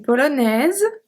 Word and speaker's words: Polonaise: Un Polonais, une Polonaise. Un Islandais, une Islandaise. So the E, give its power to the S, so we pronounce the S, okay?